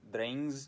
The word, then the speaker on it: drengs: a little step sideways, I will pronounce those words in an English way, so I will say drengs, not drengir or drengar or whatever, and I will say thegns, as we say in modern English, but of course, if